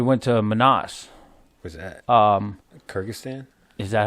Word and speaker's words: Kyrgyzstan: Was that Kyrgyzstan?